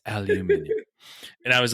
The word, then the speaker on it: aluminium: was aluminium instead of aluminum. And somebody's like, that's not how you say it. He goes, I'm saying it the correct way. It's aluminium.